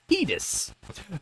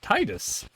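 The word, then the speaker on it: Tidus: character Final Fantasy 10 technically called tetus and not Titus it's tetus and that's just no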